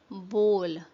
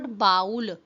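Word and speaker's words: bowl: you pronounce the word बोल इट्स नॉट बाउल इट्स बोल बोल हाउ डू यू प्रोनाउंस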